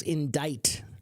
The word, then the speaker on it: indict: This word is indict. It's a weird pronunciation. To indict someone.